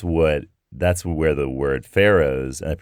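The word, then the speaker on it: Faroes: there and that's what that's where the word pharaohs and it's pronounced pharaohs and that's where the word pharaohs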